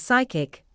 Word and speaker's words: psychic: The letter P is silent in words such as psychic, psychiatry, pneumatic, receipt, pseudonym, and psychology. The letter B is silent